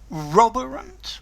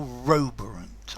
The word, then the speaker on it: roborant: Roborant or Roborant? I think both pronunciations are valid.